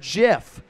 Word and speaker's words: GIF: could ever open up it says step one pronounce the word jiff step two close the book